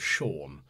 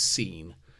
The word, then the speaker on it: Sean: and generally completely flubbing the pronunciation of Sean it's about s-e-a-n I was convinced he was seen but alasnalak this is